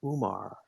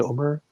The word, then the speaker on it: Umar: myself as hey hi my name is Umar which is wrong that's not how it's pronounced uh my wife Anand Omer my kids now in wyomer I'm from the